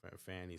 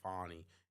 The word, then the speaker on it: Fani: uh be fry yes I know how to pronounce her name but Fanny sounds better you know I mean Miss Fanny Fanny you know what I mean if I say fonny and it's pronoun it's spelled Fanny so you know what I